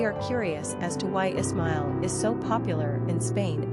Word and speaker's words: Ismael: Number of syllables, 3. Ranking popularity, 400. Pronunciation, Ismael.